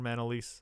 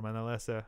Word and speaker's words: Manalese: my name all over man Elise Oliver mine Elissa however you want to pronounce it and I have